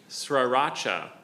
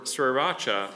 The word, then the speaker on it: Sriracha: Sriracha or Sriracha or Sriracha. It's uh first used in print in 1984. Can you use it in a sentence, please? Sure. Lulu enjoys Sri Sriracha on her fried noodles.